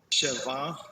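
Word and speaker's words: שבע: Sheva. Sheva. The accent is here. Sheva. Oh, the accent's on the first syllable there.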